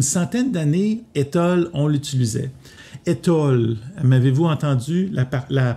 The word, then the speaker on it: étole: Alors, pour le prononcer comme il faut, c'est étole. Toi, mon étole, mon étole. Hein? Il y a une petite diphtongue qui est intéressante, à utiliser.